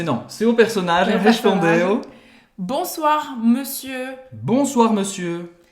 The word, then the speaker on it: monsieur: Está escrito monsieur, lembrando da pronúncia do ON, mas não tem a ver com essa palavra.